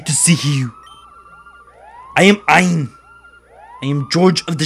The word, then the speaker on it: Ein: And again, we bring up my fellow LP'er, Zeg 400, who said that to pronounce his name correctly, it's Ein, as in like Einstein.